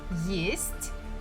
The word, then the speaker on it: есть: So for example, the first word, есть, means to eat. We have only one vowel, so it has to be stressed, it has to be pronounced as it is.